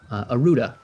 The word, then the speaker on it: Aruda: Aruda, A-R-U-D-A. No need to spell it.